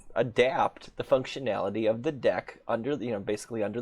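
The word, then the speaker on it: deque: double ended queue the deck how it is pronounced and i'm basically going to adapt a deck to behave like a stack you know using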